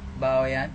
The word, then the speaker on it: Bawean: Is it true that I say Bawean? Yes, perfect. Okay, nice, right. I never pronounced this word before, so sorry for every mistake that I made in this video.